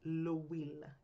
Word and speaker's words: L'Huile: To make the points clearer, we've created a fake company called L'Huile, pronounced L'Huile. The H is silent and it sounds like we.